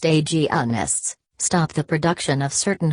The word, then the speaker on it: agonists: Gonadotropin-releasing hormone, GnRH, agonists, pronounced agonists, stop the production of certain hormones to prevent ovulation, menstruation, and the growth of endometriosis.